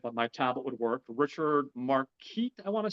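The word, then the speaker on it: Marquand: Richard Marquette, I want to say, if I'm pronouncing that correctly. Marquette. Marquette, thank you.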